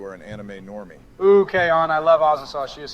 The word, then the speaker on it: K-On: Actually, Donald, it's pronounced K-On. You've already made it clear that you are an anime normie. Ooh, K-On, I love Azasaw.